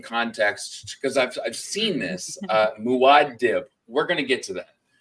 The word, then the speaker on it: Muad'Dib: Mike, let's go into the Muad Dib. Muad'Dib is actually how it's pronounced.